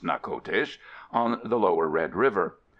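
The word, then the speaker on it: Natchitoches: from the Spanish French border near Old Nakotes, pronounced Nakotes, on the lower Red River, or in later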